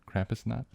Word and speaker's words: Krampusnacht: Krampusnacht? Yeah. Krampus. I believe you're saying it. It's like knock, like the way you pronounce it.